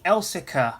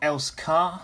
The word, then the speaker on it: Elsecar: today we're going to be looking at the elsica heritage railway and yeah it's pronounced elsica it's not else car i know some people refer to it as